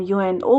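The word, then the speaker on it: UNO: और जो यहां यूनाइटेड नेशन ऑर्गेनाइजेशन से लिया है उसको हम यूएनओ प्रोनाउंस कर रहे हैं।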